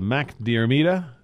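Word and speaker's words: Mac Diarmada: Ninth race is the Mac Diarmida. That's how you pronounce that.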